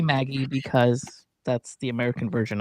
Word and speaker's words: Magie: So, Lizzie Maggie, I actually went and looked up how do you pronounce Magie, because I didn't want to pronounce it wrong, and it says Maggie, but I don't know if it's French, and the French version of it is Magie.